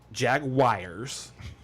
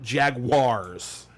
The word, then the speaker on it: Jaguar: this that subject okay it's not jag wires and it's not Jaguars it's Jaguar Jaguar Jaguar Jaguar oh my God it's not that hard to figure out that's how you say it it's Jaguar are you on the